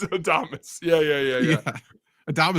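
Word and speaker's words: Adames: sure you said will adamus right I said Adams it's got to be Adams I know it's adamus yeah yeah yeah yeah Adam is so cool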